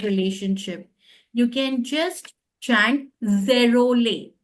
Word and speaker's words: Zerolet: You can just chant zerole, zerole. T Huh? is silent.